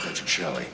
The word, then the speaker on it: Petrocelli: It's um it's pronounced Patrick Shelly.